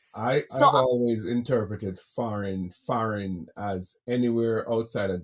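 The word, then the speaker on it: farin: So we use that word you know kind of like smush it together and say foreign f a r i n. That's how I spell it.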